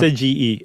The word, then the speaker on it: Seiji: Seiji. Any vowel you see in Japan just screams to be pronounced independently.